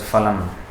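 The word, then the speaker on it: फलम्: You know, in this verse, this word, in Hindi it is usually pronounced as phalam or phal, but in Sanskrit the F sound is not there.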